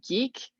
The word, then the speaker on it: GEEQ: So Stephanie So is the co-founder of Geek. It's spelled GEEQ, which I thought was funny.